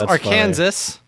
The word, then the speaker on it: Arkansas: kan msas which smells Arkansas but you say Arkansas you don't say the S it's really apparently so